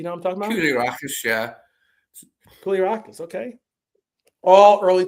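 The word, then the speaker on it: Koulierakis: Is that how you pronounce it? Do you know what I'm talking about? Koulirakis, yeah.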